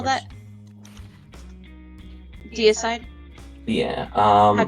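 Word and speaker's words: Deicide: do you spell that deide yeah um as in dity but side as in d e i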